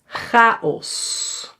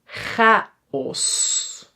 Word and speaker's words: chaos: Chaos. Chaos. Or lach. And lachen. And tocht. Tocht. Yeah? So, here it is pronounced as a g, but in some words